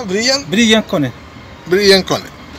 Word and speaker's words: Brillance Konect: grabando vídeos para el grupo de cómo se pronuncia brillan brillan con él brillan con él y acaba de instalar este